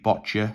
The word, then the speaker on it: boccia: The Girl Guides, WWF, archery, boccia, so that rhymes with gotcha, boxing, canoeing, cycling, horse jumping, goalball, hockey, judo, rowing, table tennis, weightlifting.